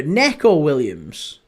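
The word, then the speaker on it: Neco Williams: As in the Forest defender, Nico Williams. It's Nico Williams. It's exactly the same. Both are Nico. It's just that one's N-I and the other's N-E.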